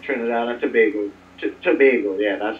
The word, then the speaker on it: Tobago: Is that Tobago? How do you say it? Trinidad and Tobago.